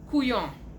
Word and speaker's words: couillon: Couillon, pronounced couillon, like couillon, means imbecile or fool. We usually spell it like it's said, so couillon.